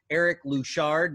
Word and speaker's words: Eric Louchard: I'm Mac, and we are excited to have with us today Eric Louchard.